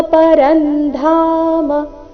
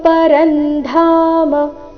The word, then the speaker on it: ಪರಂಧಾಮ: ಮೊದಲು ಅರ್ಜುನ ಉವಾಚ ಪರಂಬ್ರಹ್ಮ ಪರಂಧಾಮ ಧಾಮ ಧ ಮಹಾಪ್ರಾಣ ದೀರ್ಘ ಬರಬೇಕು ಪರಂಬ್ರಹ್ಮ ಪರಂಧಾಮ ಪವಿತ್ರಂ ಪರಮಂ ಭವಾನ್ ಪವಿತ್ರಂ